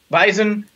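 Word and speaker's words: Weizen: Weiss vice WEEI SS e w e i ze n bison they're very similar they sound the same we have a w that sounds like a V they both end in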